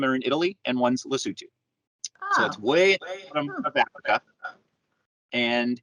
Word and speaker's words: Lesotho: what the heck's the lesotho it's spelled lesotho which is the way we would pronounce it in english but they they pronounce it lisutu it's a country surrounded